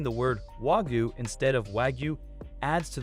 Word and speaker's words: Wagyu: Wagyu beef is more than just a Japanese cow. It is a specific breed of cattle with unique genetic qualities. Mispronouncing the word Wagyu instead of Wagyu adds to the confusion surrounding this high-end delicacy.